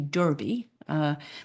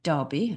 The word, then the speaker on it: Derby: went over to the Kentucky Derby, which is how you folks pronounce it, but our family in England call it Derby, that's our name.